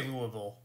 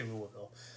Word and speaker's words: Louisville: Nancy, I say Louisville. I think a lot of people say it wrong, and I probably, yeah, but I say Louisville.